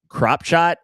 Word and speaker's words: Kropschot: Unfortunately, John Koonman gets caught in an armbar by Joseph Kropshot. And listen, I don't know if that's how you pronounce the name. It's spelled Kropschot. That sounds like Kropshot to me.